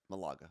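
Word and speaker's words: Málaga: Malaga.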